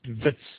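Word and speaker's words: Wits: abbreviated as uh vits it's pronounced vits ws and the v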